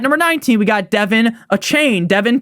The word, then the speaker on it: Achane: At number 19, we got Devin Achane. Devin 2 Chains. Nick, you say his name wrong all the time.